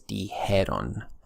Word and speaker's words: dijeron: So just know that the correct pronunciation is dijeron.